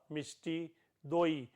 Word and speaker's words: mishti doi: Mishti dahi or or Mishti Doi in Bengal and Assam Instead of dahi they pronounce it as Doi or mishti Doi.